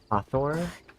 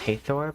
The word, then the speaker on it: Hathor: I feel like her name should be pronounced Hathor, but it's pronounced Hathor, but I don't know what's making the A say its name.